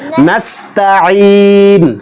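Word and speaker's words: نستعين: নাস্তা ইয়াকা নাস্তা নাস্তা সিনও স্পষ্ট হবে আইনও স্পষ্ট হবে নাস্তা নাস্তা এটা একজন করে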